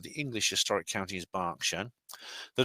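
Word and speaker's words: Berkshire: clever so this copied from the web the pronunciation of barkshire is not historically based is mainly a regional preference correct pun correct pronunciation of the English historic count is Barsha the name Barsha comes from the Celtic word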